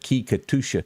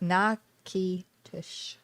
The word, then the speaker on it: Natchitoches: Nakakikatusha. I can't say that. Nakitush.